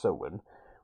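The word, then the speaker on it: Samhain: in what year was soen Sam hay however however you want to pronounce it say pronounced soen what year was it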